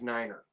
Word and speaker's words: niner: And the other one is niner. Niner. You want to use the word niner instead of 9.